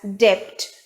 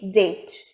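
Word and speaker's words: debt: is never pronounced as depth the b is silent here as it is the monosyllabic word so the stress will be on that syllable only so the pronunciation would be date let us go on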